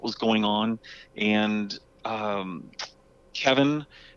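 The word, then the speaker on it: Cevin: going on and um kevin uh which is spelled c-e-v-i-n which is really unique the first time you try to pronounce it when you're on a zoom call with him but uh kevin also brought three mark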